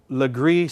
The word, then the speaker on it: Legris: that fit into the pack these are called Legris straights now Legris spelled L e gr is which was a